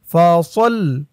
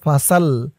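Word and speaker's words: فصل: সদ লাম জবর সল, ফা সল। অনেকে বলে ফাসাল, ফাসাল বললে এই সদের জায়গায় সিনের উচ্চারণ হয়ে যায়, বলতে হবে ফা সল, সল, ফা সল।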